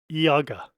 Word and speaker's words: Ihagee: videos and uh wiki Wikipedia has it is Yaga what appears to be a j is actually